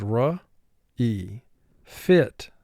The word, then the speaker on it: refit: by a consonant, and the accent mark or the emphasis is on the second syllable. We say refit, so we punch that second syllable in emphasis, and that's why we double the T here.